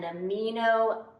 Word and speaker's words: amino: individual unit called an amino acid. Mean? No. They're not mean. It's spelled A-M-I-N-O. Amino acid.